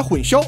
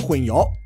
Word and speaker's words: 混淆: 殊形式，把混淆读成了混淆，混淆黑白的做法，把歼灭